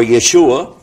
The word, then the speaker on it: Yeshua: the word Issa his name in Hebrew is pronounced Aisha or Yeshua and it's Issa and Arabic and the reason